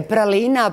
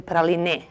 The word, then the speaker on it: praline: Da, da li je Pralina, Pralina i kako bi pravilno trebalo? U francuskom bi trebalo jeziku da se akcentuje Praline na posljednjem slogu. Međutim, kod nas u našem jeziku to nije slučaj.